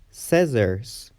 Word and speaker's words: scissors: C is silent after the letter S. For example, scissors, muscle, scent, seen, or fascinating.